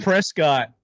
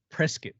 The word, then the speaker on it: Prescott: Another big deal with Moscow is that it's like Prescott, Arizona. Prescott. It's Prescott. Oh yeah, totally. It's not Prescott.